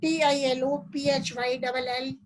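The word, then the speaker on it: Ptilophyllum: The leaf called Tilophyllum. The leaf called Tilophyllum. P is silent. P Tilophyllum. The leaf called Tilophyllum had linear and parallel veined leaflets like those of Gemia.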